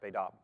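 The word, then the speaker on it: בית אב: in charge of the baidaab right it's written b e t space a b but it's pronounced baidab so the baidab here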